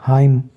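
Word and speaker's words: hymn: एन जो है एम के बाद आया इसलिए साइलेंट हो गया हाइम और आटम खजा को कहते हैं हाइम हमद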